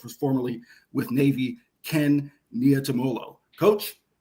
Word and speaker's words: Niumatalolo: So, it's just breaking in three parts. Niumatalolo, or Niumatalolo. Polynesian names, there's a lot of letters, but there's no silent vowels. I mean, you just pronounce all the syllables.